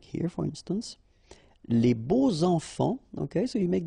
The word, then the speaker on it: beaux: And here it's quite interesting because even if you've got this X, well, phonetically it will be like Z, so like if it would be an S, okay?